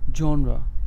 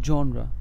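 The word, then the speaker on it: genre: খাবারের তালিকা next word is জিই এন আরই জনরা জনরা জনরা মানে হচ্ছে কোন টাইপের নেক্সট ওয়ার্ড ইজ সি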